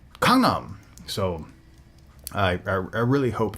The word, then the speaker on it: Gangnam: i find it interesting that so many people mispronounce gangnam uh ellen on ellen degeneres show gangnam and a lot of people picked up on that and keep on calling it gangnam style even though they'll have the song playing